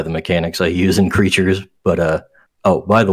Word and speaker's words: Crytures: probably tell by the mechanics I use in creatures but uh oh by the way uh yeah the game the game I'm making is pronounced just creatures not not crates it's just a portmanto of Crystal creatures so